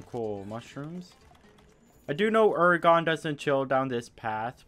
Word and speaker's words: Uragaan: or gone yet but this is ergon or uragon however you pronounce it i believe it is ergon which we will be calling him throughout this video his habitats are the